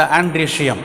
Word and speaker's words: androecium: Androecium. Okay, O is silent.